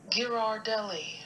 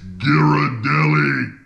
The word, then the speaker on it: Ghirardelli: I gotta go to the pronunciation on this. This is the new ultimate chocolate handcrafted... How do you say this? Ghirardelli.